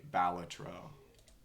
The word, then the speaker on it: Balatro: Sorry, Balatro is how it is actually pronounced, as I have been informed.